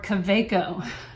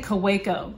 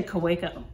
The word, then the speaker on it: Kaweco: i hear it in different ways it's a kuwaiko or a caveco so i'm going to say kuwaiko because i recently watched the apple boom interview